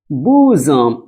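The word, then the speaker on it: bosom: बजम इसे पढ़ते हैं। बजम देखिए अब यहां पर इसे छोटा उ की मात्रा के साथ इसका प्रोनाउंसिएशन किया जा रहा है।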